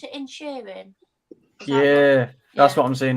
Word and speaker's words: Inisherin: How do you pronounce it? Inisherin?